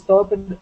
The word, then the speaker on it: topped: So make sure you don't add an extra syllable here.